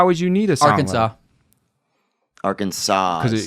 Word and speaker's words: Arkansas: you need a AR Arkansas yeah right yeah nobody says arkans and that's and that's